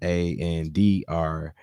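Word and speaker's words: André: Andre. To pronounce that name is Andrea it's E with the it's an E, but I forgot what you call it. What you put over above the E.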